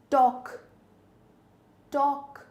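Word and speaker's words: talk: टॉक टॉक एल की आवाज नहीं है।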